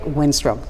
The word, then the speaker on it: Winstrom: And today, we want to welcome the newly confirmed Chief of Pensacola Police Department, Eric Winstrom.